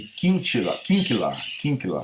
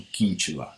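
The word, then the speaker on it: Kinchla: 3 autores da Princeton, Darley, Klucksberg e Kinkela, é a pronúncia correta, Kinkela, não Quintila, Kinkela.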